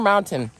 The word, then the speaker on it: mountain: Do you guys say mountain or mountain? Mountain? Mountain? Mountain, the T is silent.